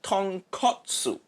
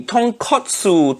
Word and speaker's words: tonkotsu: jackass out of myself i think you mean tonkotsu in japan ah yeah pronunciation is wrong oh all right piece of pork but katsu means cutlet so tonkatsu mean fried piece of pork that completely different thing say it properly tonkotsu tonkotsu i've already started